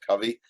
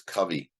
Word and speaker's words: Covey: I found out that it's not pronounced Covey, it's pronounced Covey, because the audio edition I was listening to had a foreword by his son, and that's how he pronounced his name.